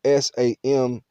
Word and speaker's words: Samhain: celtic festival of uh samhain it's spelled s-a-m-h-a-i-n but it's pronounced as if it was spelled s-o-w samhain and all praises